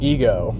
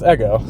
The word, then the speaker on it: Ego: Um I actually thought it was called Ego. That's how it's spelled. Um but, I found out later on tonight that it's Eggo.